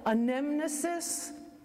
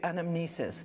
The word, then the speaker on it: anamnesis: of the mass and you'll hear it pronounced two different ways some people call it a nemesis Brian Lorenzi from the Archdiocese uses a nemesis regular people like us usually say anamnesis so however you hear